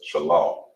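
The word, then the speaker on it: שלל: unlatch from the dodge which is pronounced as shallow all right and as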